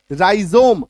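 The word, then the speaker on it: rhizome: राइजोम आर एच आई जेड ओ एम ई राइजोम clear है आई बात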